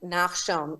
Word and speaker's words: Nachshon: Nachshon Synagogue is named Nachshon. Very few people can even pronounce that.